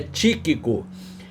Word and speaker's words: Tíquico: era tiquico eraa tiquico olha aí onde está o assento Agudo na primeira sílaba então é tíquico e para que saibais